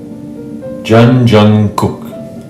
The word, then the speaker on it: Jungkook: And the third syllable is Kook. The first letter and last letter are GK. It's somewhere in between a G and a K. Gook. The vowel in this syllable is U.